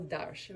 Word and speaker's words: Arches: This was my Arsh. Is that how you say it, Arsh? Arsh. We used to say Darsh. Arches. Aquarelle Darsh, of Darsh.